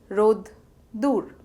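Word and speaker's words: রোদ্দুর: It is pronounced as roddur and spelled as royokar, doi roshokar, boishuno ro, roddur.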